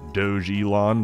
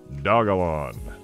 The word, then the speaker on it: Dogelon: um of course it you might be tempted to pronounce it doge elon because of the portmanteau between doge and elon but the internet tells me that would be misguided that it is preferred to be pronounced dagolon i will honor that